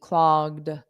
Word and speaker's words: clogged: the sinks clogged clogged so notice for that e d you just put a soft D clogged the sinks clogged clogged